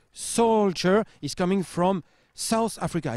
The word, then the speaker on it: Solskjaer: Ça se prononce Solskjaer.